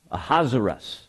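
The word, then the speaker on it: Ahasuerus: important here in chapter one uh king ahaziras a hazaras is the way that is pronounced also known as xerxes uh king ahaz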